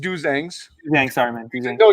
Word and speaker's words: Dozangs: It's pronounced Dozangs.